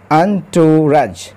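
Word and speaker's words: entourage: মিনিস্টারস also join দা আন্টরাজ ন্টুরাজ এটার উচ্চারণ হবে আন্টুরাজ আন্টরাজ মানে হচ্ছে উচ্চ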